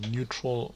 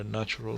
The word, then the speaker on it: natural: let me confirm if it is actually neutral or natural so that we get the team's rights so it's actually natural killers not neutral natural killers so i